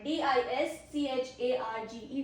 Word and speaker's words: discharge: D I S C H A R G E. Discharge. First pronunciation is discharge.